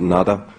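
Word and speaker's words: Nuada: There's, in the earliest settlers of Ireland in the very primordial times, the High King, whose name can be pronounced in a variety of ways, we pronounce it Nada.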